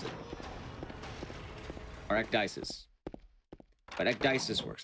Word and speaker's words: ecdysis: the story play it yeah my name is pronounced ecdysis though that is how i pronounce it alright dices but ecdysis works like that i like the shotgun i